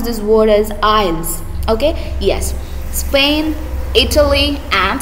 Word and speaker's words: Isles: So children, here you should pronounce this word as Isles.